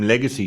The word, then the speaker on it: Legxacy: James Foro Runo Ifani Ala Oi aka Jim Legacy spelled rather nicely with an X as in L E G X A C Y from Lewim in London